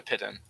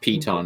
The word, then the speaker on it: piton: What's a pit in? I have 10 pittons. It's like a climbing spike. Oh, okay. It's pronounced piton.